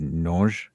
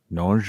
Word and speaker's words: Nonge: Nonge? Nonge, or yeah, because it's not with a hard G. It's just a nonge. It's more French.